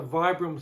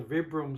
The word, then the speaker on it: Vibram: one that has a Vibram soul. Vibram, Vibram, it's I think it's Vibram, how they say it. VIB Ram, Vibram.